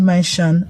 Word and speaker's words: mansion: Let's say the word the word mansion. Mansion. Okay. Um the S is pronounced as because N prefaces S in the word.